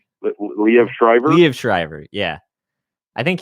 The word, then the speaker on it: Liev Schreiber: Liv Shriver? Liev Schreiber.